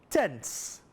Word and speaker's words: tenths: And emphasize that when you say it, tenths.